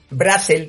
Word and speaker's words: Brassel: Eh, se sea es es de la vuelo, era francés, entonces se debía pronunciar Brasel, pero el eh mi padre siempre lo pronunció Brasel y ya se nos quedó así.